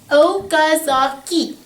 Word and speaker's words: Okazaki: say it with me okazaki is how you say that name and it's named after